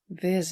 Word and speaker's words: Vezo: tu prononces pas la dernière la dernière voyelle Ah, en fait. voilà. Vase.